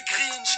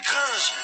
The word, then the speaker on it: Gringe: Continue de m'appeler Grinch. Mon nom c'est Gringe.